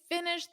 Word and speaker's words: finished: And notice that pronunciation on finish in the past simple, it's a soft T. Finished. Very soft.